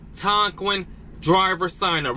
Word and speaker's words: Tonquin: to Google you're going to type in t-o-n-q-u-i-n Tonkin we're gonna go right there as you guys can see it says Tonkin driver sign up right there click sign up